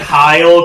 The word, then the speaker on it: Heil: I'm gonna pronounce it Heil because it has an E at the end.